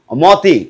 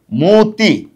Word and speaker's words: মতি: কি মতি কিন্তু না যেহেতু অ এর পরে ইকার আছে সুতরাং এই প্রথম যে অটা আছে অটা কি হবে অটা হচ্ছে ও হয়ে যাবে অর্থাৎ এখানে হবে কি ওকার হয়ে যাবে অর্থাৎ হবে কি মতি ম কথা কি বুঝতে পেরেছ?